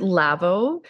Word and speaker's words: Lavoh: So the word lavo is Lavo.